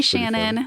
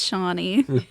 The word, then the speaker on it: Shawnee: you all confidently talking yeah hi Shannon and I was like it's Shawnee did he turn red